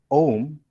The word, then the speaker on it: Om: Om is made up of three Sanskrit letters, that is A, U, and Ma. When these sacred seed syllables are combined, they make the sound Om, which is recited as